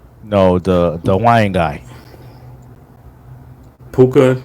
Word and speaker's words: Puka: um Kyon Williams no the the WAN guy puka n yeah p p puka PUK the thank you thank you you got